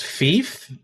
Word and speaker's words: Fief: It's pronounced Fief, is it? Oh, I guess Thief, the Thie. Yeah, that makes sense.